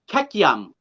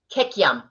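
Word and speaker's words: kikiam: What is the correct pronunciation for it? For what? Queukam. Kekyam. Kekyam.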